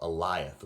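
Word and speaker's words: Alioth: Yeah, and there's a great big smoke monster there called Eliath, which sounds like the name Elias but pronounced with a lisp.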